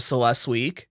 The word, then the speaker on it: Celestiq: Production of Celestiq, pronounced Celestiq, will consequently need to be constrained.